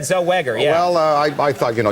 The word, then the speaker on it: Zellweger: this magnificent actress today on the rounds, Renee Zellweger, who's coming out in Bridget Jones, the second movie, and. Yeah, please. I think you called her Zellweger, though. Well, I think it's Zellweger.